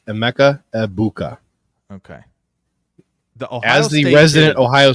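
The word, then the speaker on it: Emeka Egbuka: aa abuka okay no no the g is silent it's EMA abuka okay the Ohio resid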